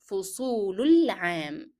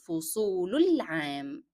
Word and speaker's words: فصول العام: And since the definite article al is preceded by a short vowel dhamma on lam, then alif in the definite article alif and lam in the word al-am will not be pronounced. So you will move from the short vowel dhamma directly to lam.